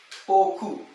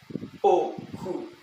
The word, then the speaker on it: oku: Oku. But you have to pronounce it using low tone. Oku.